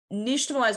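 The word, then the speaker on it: nixtamalization: like unnationalized corn um nationalize by the way is spelled n-i-x-t-a-m-a-l-i-z-a-t-i-o-n um that X sound makes us because it comes from the Aztec language um and Tamal you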